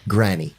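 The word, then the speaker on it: Gráinne: gr r a i n n e yeah granny gr gr that's the closest you've been oh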